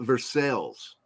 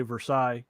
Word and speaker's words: Versailles: Central America Martha's Vineyard we've got a Versailles Missouri yes we do but they mispronounce it and they call it Versailles yeah and that just irritates me my mom used to yell at me because I would always say Versailles instead of Versailles well that's what it